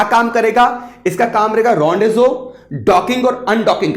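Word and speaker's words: rendezvous: इसका ऑब्जेक्टिव क्या है इसको बोलते हैं रजू अब जैसे ये लिखा हुआ है वैसे इसको प्रोनाउंस नहीं करते इसका ऑब्जेक्टिव रहेगा रजू डॉकिंग या अनडॉकिंग करना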